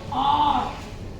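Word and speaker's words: hour: य आर इसको बोलेंगे आर आर बोलेंगे इसको एच हमारा इसमें क्या है साइलेंट है वैसे ही ऑनर एओ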